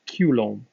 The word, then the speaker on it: Coulomb: was a french individual if you pronounce his name kind of properly as a french person where it's more pronounced culombe so since his name